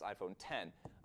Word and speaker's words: iPhone X: one of which is the new iPhone X, pronounced iPhone 10.